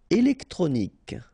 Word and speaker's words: électronique: Électronique. Okay, so k at the end. Remember Q-U-E at the end. K.